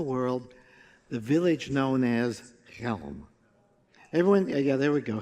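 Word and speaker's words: Chelm: the village known as Helm. Everyone, yeah, there we go, Helm. Everybody say Helm? Helm. You can say it with feeling. Ready? Helm. With your throat. Helm. Like you're clearing your throat.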